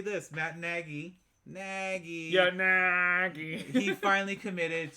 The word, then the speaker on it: Nagy: You said his name wrong. Nagy.